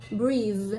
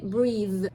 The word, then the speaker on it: breathe: Although we have an e here, but you don't actually pronounce it. It's breathe. You see? You stop at VV. You say breathe.